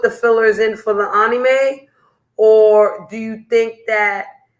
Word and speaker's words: anime: to let y'all know anime is how you say it with a Japanese accent that's how the Japanese say it they say anime Americans say anime okay so if somebody says well sh you're saying it wrong no actually I'm saying it like a Japanese person and you're not saying it wrong either you're saying it like an American okay go ahead yeah